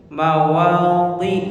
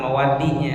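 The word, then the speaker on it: مواضع: Jadi mawadhi Mawadhi, coba. Jadi bukan mawadinya, mawadihi itu. Mawadhi, dhi ya. Mawadhi, coba. Ya. Bedakan antara di dengan dhi. Di, dhi beda ya.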